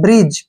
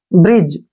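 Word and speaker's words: bridge: से क्या आया है जी के पहले डी आ गया तो इसको हमने नहीं पढ़ना है बी से हो गया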